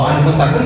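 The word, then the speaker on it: أنفسكم: Cara membaca nunnya disamarkan dan tidak dijelaskan. Anfusakum bukan anfusakum bukan. Kalau anfusakum berarti idham tetapi setelah nun sakinah tidak ada huruf fa maka hurf ada pada hep ikhfa. Cara membacanya samar.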